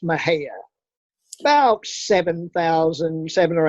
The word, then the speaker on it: Mexia: town called mahaya uh it's spelled m-e-x-i-a so it looks like mexia but it's pronounced mahaya about seven thousand seven